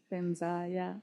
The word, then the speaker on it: Vajra: And different things like that, like Vajra is a... Benza, Benza. And do you know anything about this, or like Absolutely. Resources to explore? So both of those, Pema and Benza, are great examples.